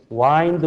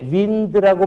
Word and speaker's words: wind: 와인드 그러면 말이야. 주먹. 요게 윈드라고 발음하면 바람이라는 명사야.